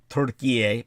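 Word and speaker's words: Türkiye: As is, by the way, from now on, everybody condition yourselves to pronounce it Turkiye, because that's their official name. They're definitely not going by the English pronunciation anymore.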